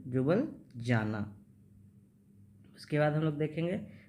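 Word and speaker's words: Ljubljana: ठीक है, उसके बाद हम लोग देखेंगे स्लोवेनिया का क्या है, जुबल जाना। ठीक है, एल से होता है लेकिन एल साइलेंट, जुबल जाना।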